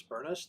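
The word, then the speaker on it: Burness: My name is Bernest. This Bravo Uniform Romeo November Echo Sierra Sierra rhymes with furnace.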